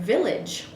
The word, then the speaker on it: village: So, or for example, in the word village, there's the I is making the I, and so is the A making the I.